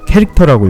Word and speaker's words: char: 첫 번째로 CHAR이라고 써있죠. 네. 캐릭터라고 읽어요.